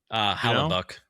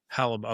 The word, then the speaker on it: Hellebuyck: So how do you pronounce that guy's name? Hellebuyck. Hellebuyck.